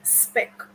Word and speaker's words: SPECC: in this affirmation that I am referring to spec. Now, let me introduce you to spec, and that is spelled SPECC.